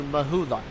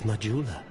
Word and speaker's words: Majula: Now we go back to Mahula. I know it's pronounced Majula, I just wanted to say it like that.